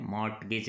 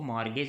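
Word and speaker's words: mortgage: कहा जा सकता है मॉर्गेज थी साइलेंट है मॉर्टगेज निकलते इसको मॉर्गेज बोलते हैं जिसको हम गिरवी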